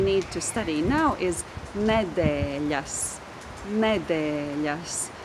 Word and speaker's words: nedēļas: So the last syllable is yes, and there is that consonant with a little comma underneath. Yes, yes. But the syllable that precedes the syllable yes is de, de, with the long vowel e, de, yes, de, yes.